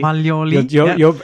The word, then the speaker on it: Maglioli: And I'm wondering I'm calling him Maglioli, but you're Maglioli. Maglioli.